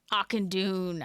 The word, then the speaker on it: Auchindoun: That's how I always pronounce it. It's okay. Thanks, guys. Auchindoun.